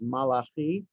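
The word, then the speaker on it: מלאכי: It's taken from the prophet Malachi, and the Hebrew pronunciation is Malachi, which literally means my angel.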